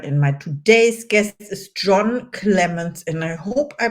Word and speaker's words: Jon Clemence: My name is Caroline, and my today's guest is Jon Clemence. And I hope I pronounced your name right.